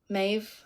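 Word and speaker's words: Meadhbh: next one all right m e a d h b h four consonants in a row okay okay here you go Maeve Maeve what yeah we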